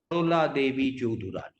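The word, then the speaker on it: Sarala Devi Chaudhurani: How many of you have heard of Sharola Devi Chaudhurani? I'm pronouncing it in the Bengali way.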